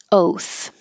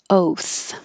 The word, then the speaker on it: oath: on tap that's it oath oath take an oath is uh like a promise forget about the a it's just o with a voiceless th when Z is at